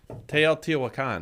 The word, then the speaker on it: Teotihuacan: Teotihuacan.